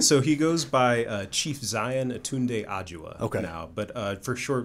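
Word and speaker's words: Xian aTunde Adjuah: So he goes by Chief Zion Atunde Ajua okay.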